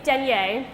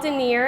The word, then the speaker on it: denier: And if you’ve never heard the word pronounced, you might think it’s denier, but it is actually called denier and it’s actually a unit of weight.